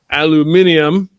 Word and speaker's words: aluminium: just because they're um aluminium you guys say we say aluminum over here even though it's actually spelled it's spelled aluminium apparently I didn't know that